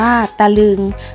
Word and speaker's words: ตะลึง: ตะลึง อ่าน ว่า ตะลึง คำ ว่า ตะ จะ อยู่ ที่ พยางค์ หน้า เพราะ ฉะนั้น จะ ออก เพียง กึ่ง เสียง ค่ะ คะนึง อ่าน ว่า คะ